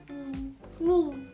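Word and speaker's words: knee: Ni. Ah, kni. Kniatos. C'est avec un K, mais il se prononce pas.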